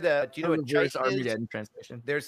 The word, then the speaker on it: chitin: So it's pronounced chitin. I've always said chitin, but that makes sense. It's one T.